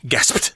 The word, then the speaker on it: gasped: in the past tense i think it's very difficult for even native speakers to say it correctly gasp how the heck are you supposed to say that in one when one breath gasps yeah and to say quickly gasped gasped it's really hard to say correctly because we